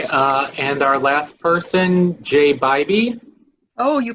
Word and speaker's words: Bybee: Okay, and our last person, Jay Bybee. Oh, you pronounced my name absolutely perfectly.